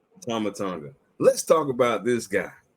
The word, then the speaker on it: Tama Tonga: Is it Tommy Tonga? I want to make sure I say it right. Tama Tonga. Tama Tonga.